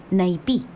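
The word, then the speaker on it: Naipí: fuese una cascada llamada naipe ya su pretendiente tarobá quizás les llame la atención que todos estos nombres llevan la última sílaba acentuada es que son de origen guaraní una lengua que se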